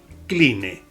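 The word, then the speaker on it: Cline: se llama eric klein se escribe clínic 11 eric clean este caballero escribió un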